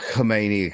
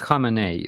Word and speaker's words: Khamenei: It's not Khomeini. It's so fucking close. I mean, how do we say it? Come on, Starsky, you sort us out. How do we pronounce it? It's Khamenei. Khomeini was their previous dictator, basically, and Khamenei is their current one.